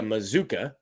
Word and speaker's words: Mazuka: But I did look up Micah Mazuka, rhymes with bazooka, from the Baylor website.